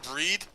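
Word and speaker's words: Brigid: name is in Gaelic I think it's pronounced breed and it's spelled B r i g i d and she says go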